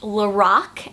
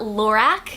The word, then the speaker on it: Lorac: brand is actually pronounced Lorac and not Lorac I met a girl that does work for Lorac and she said that the name is pronounced Lorac because it's actually the Creator's name backwards so Carol and backwards